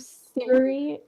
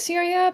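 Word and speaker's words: Psyria: He ran into some trouble where he was on the Isle of Syria. Okay. I'm pronouncing it Syria, but I doubt it's Syria, like modern day Syria. It's spelled with a P. P-S-Y-R-I-A.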